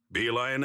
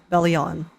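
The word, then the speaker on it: Belion: Don't worry, Bee Lion and the others are watching him. Oh, is Bee Lion? I I always pronounced it bleon in my head.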